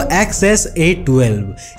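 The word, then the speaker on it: X Æ A-12: इसको XS-A12 इस तरह प्रोनाउंस करते हैं।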